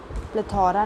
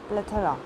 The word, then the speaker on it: plethora: The next word is plethora, which is a noun and इट is pronounced as plethora. प्लेथोरा नहीं, plethora.